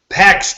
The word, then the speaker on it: PEX: into the weekend with no pet card I'm saying it wrong I think it's about pick card listeners if you're already doing face Postmates you you know what PEX card PEX card so I bing I